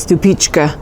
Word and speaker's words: Stupice: most reliable and that's Stupice. It's actually pronounced stu-peech-k.